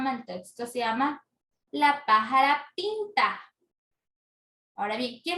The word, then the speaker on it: pájara: Pájara. Pájara es esdrújula. Miren dónde está la tilde. Tenemos lo que es 3 sílabas, ¿verdad? Pájara. Tenemos, la última sílaba es ra. La penúltima es ja. Y la siguiente sílaba es pa, que nosotros decimos que